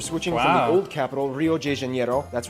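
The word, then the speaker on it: Rio de Janeiro: from the old capital Rio J Janero that's right it's pronounced Rio J Janero not Rio Deano get it right we're not in Mexico this is Portuguese not Spanish this was done in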